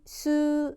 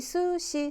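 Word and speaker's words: す: 이 글자는 수보다는 스에 더 가까워요. 스에 가까워요. 여러분, 스시지 수시 이렇게 안 하잖아요. 그렇죠? 스시고요. 써볼까요? 이 글자 수, 이 글자 시. 지금 우리 수시 썼어요.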